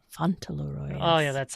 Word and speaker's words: Fauntleroy: Fauntleroy.